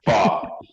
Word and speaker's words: Fach: Fach.